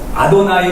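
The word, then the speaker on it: אֲדֹנָי: 않았고 말이 많은데 어쨌든 히브리 사람들은 여기에 나왔을 때 여호와 도 아니고 야외에도 아니고 그렇게 발음을 안하고 아도나이 로 발음을 한다 니까 어느 순간 우리도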